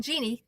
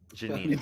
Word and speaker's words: Janine: My name's not Jeannie. Get it right. Ginny? It's not Jeannie. Is it Ginny? Nope. Janine? No. Janine. Close. Janine? Yeah. Okay.